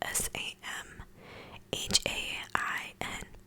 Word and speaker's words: Samhain: to say holiday samhain and it's not spelled the way that it sound i believe it's spelled s-a-m h-a-i-n i've done so much